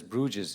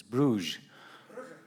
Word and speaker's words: Brugge: I was told that we should never pronounce this as Bruges it's Brugge Brer Brier okay that's the correct one thank you very much